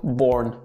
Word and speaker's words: Born: boy max born yeah there's not much you can say wrong born so there's in the english word so it's quite similar so you should be good did you just say